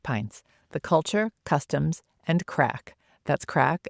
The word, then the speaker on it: craic: Ali is the author of a Compendium of Irish Pints, The Culture, Customs, and Craic.